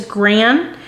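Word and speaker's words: Granex: yellow I think it's Grand it's pronounced grand um cuz there's I think a silent X at the end of it and then the Texas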